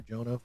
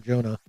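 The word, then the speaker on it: Arjona: And you're not going to cast someone on the level of Adria or Jonah or or Huna probably is the more proper pronunciation since she's Latina. Um, and Jay's in Spanish are so Adria Arona, you're not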